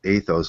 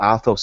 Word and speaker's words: Athos: Anybody that hasn't seen the monk of I think it's pronounced Athos, isn't it? Athos, yeah.